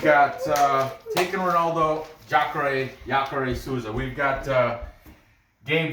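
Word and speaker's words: Jacaré: either okay let's see jacare that means alligator in portuguese alligator giacare yatore i think the j is silent so yakare souza um okay let's go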